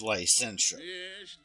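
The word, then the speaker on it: Lycentia: Um, if you were to say her name fast, it would have it would have you pronounce it as I sent you.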